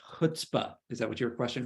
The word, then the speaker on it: chutzpah: But to me, watching it, and maybe this is just because it's pronounced it's pronounced chutzpah.